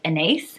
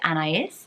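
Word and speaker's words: Anaïs: Anais and I said an ace and I love the name so much I always thought it was an ace but it's an is um and so that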